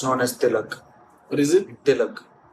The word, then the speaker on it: tilak: It's known as tilak. What is it? Tilak. How do I pronounce?